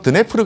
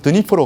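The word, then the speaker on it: Дніпро: 저 강을 옛날 러시아 발음으로론 드네프르 강이라고 했고요. 오늘날 우크라이나 발음은 드니프로 강이라고 합니다.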